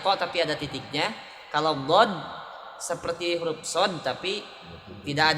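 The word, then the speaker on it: ض: Dod hurufnya cuma satu dari ihda hafatay lisan, di sisi lidah sejajar dengan geraham bagian atas. Dod sisi lidah sejajar dengan geraham bagian atas. Dod do kedengarannya bulat.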